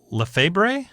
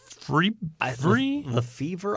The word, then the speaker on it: Lefebvre: 1965, Dodgers second baseman Jim Lefebvre. Lefevre. I wonder if that B is silent.